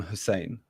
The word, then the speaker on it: Hussain: Hussain. Hassan. Hussain, Hussain. Hassain. A-I-N. Some people spell it E-I-N.